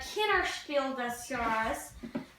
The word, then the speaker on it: Kinderspiel des Jahres: So this game won the Kinderspiel des Jahres.